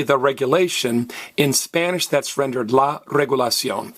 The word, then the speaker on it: regulación: CIO and in Spanish always have an accent over the last vollis's hey don't stress the next last vowel don't say regulation stress me regulation great let's do our